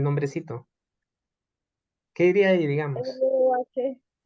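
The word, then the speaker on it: rho: R-O-H. La H es muda.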